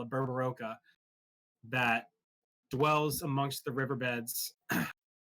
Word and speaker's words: Berberoka: Berber, like almost like Gerber. Berberoka.